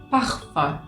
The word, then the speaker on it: parfum: Vamos con el sonido Acá es la conjugación de la letra U y la N, o bien también, en algunos casos, de la U y la M. Entonces, como pueden ver, por ejemplo, como si tuviésemos la palabra uno, en francés se dice un. O si tuviésemos la palabra perfume en francés, que se dice así, parfum, parfum.